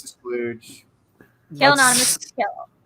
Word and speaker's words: Khail: Khail. Kale is not spelled like the cruciferous, cruciferous vegetable. It is kale, Khail.